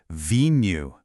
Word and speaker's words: vinho: It's pronounced v new.